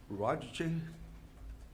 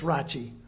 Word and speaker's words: Rachi: It's Rachi. Raji. Okay. Most of us are old enough to know Liberace. It's not spelt that way, related, or anything like that, but Rachi.